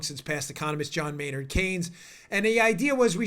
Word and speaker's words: Keynes: thing first it was John Maynard Keynes like Keynes just saying I don't mean to sound like